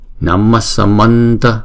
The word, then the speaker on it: Namasamanta: Thì khi chúng ta đọc ghép lại thì chữ H này chúng ta không có đọc lên là chữ H ha, chúng ta đọc là Namma Samanta, Namma Samanta. Đó, giống như là chữ S đó. Namma Samanta. Chữ H này là chúng ta đọc giống như là chữ S, Namasamanta, đúng không?